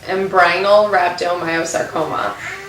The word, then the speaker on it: embryonal rhabdomyosarcoma: I know the common term is RMS, but how do you pronounce the term? So her official diagnosis is embryonal rhabdomyosarcoma, which is a soft tissue tumor.